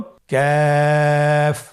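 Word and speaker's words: ك: কাফের মাখরাজ হলো জিহ্বার গোড়া থেকে একটু আগে বাড়িয়ে তার বরাবর উপরে তালির সঙ্গে লাগিয়ে উচ্চারিত হয়। তাহলে আমরা কফ যেখান থেকে উচ্চারণ করেছি একটু আগে বাড়িয়ে সেখান থেকে আমরা তার বরাবর উপরে তালের সঙ্গে লাগিয়ে হরফটি উচ্চারণ করব।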